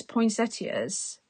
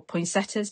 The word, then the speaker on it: poinsettias: So it's pattern paper in the background, and then all these poinsettias, or poinsettias, depends how you pronounce it, I know.